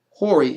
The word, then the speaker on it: hori: 2750 through 2753 mean in English, how they say it in the scriptures is hori, H-O-R-I, right?